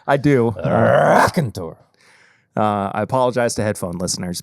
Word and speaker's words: Raconteur: This is the first time that we've reviewed Raconteur Rye on the actual podcast proper. You didn't say it right. Raconteur! Sorry. You're right. I said it incorrectly.